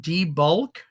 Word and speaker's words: Devol: here his name was Roland Devol okay Roland debul I'll spell it for you Roland first name and then